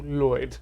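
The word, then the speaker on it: Lwyd: lloyd mary lloyd yeah i believe i went on a deep youtube dive uh to check the pronunciation just open every tab and we came to a consensus of it's closer to lloyd okay yeah yeah it's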